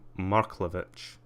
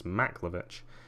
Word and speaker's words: Maklovich: Karim Tole Marklovich. Karim Tole. Maklovich. Okay, I even said it wrong. It's Maklovich.